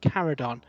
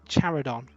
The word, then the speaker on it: Charadon: See, like a CH like Chimera led me to believe that Charadon is pronounced Caradon, but then that's very close to Caradron, and yeah, we've had similar conversations where it all gets a bit messy. But yeah, apparently Charadon is the pronunciation.